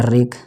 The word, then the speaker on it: wreck: आर के पहले डब्लू नहीं पढ़ा जाएगा। जैसे देखिए राइट, ये डब्लू नहीं पढ़ा गया, और आई को आई पढ़ा गया। और RAP रैप, ये हो गया। WRECK, ये होगा रेक।